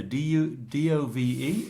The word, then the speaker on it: Dove: The product on the TV and the adverts is called dove. But the Spanish people will say duff.